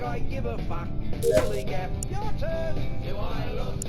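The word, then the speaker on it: DILLIGAF: And I can relate to their attitude too, in a word, dilly-gaff. That's spelled D-I-L-L-I-G-A-F, dilly-gaff, and this is what it means.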